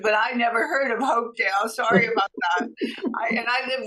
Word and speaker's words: Hopedale: Hopedale, Massachusetts, right?